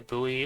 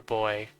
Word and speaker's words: buoy: to inspect Clash's boy I always thought it's pronounced the buoy or something I guess it goes either way it's either buoy or boy but as a kid